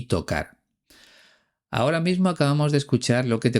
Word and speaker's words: tocar: hace unos minutos, que Paco de Lucía no pronuncia la R final en el infinitivo de los verbos bajar y tocar. Él dice baja y toca.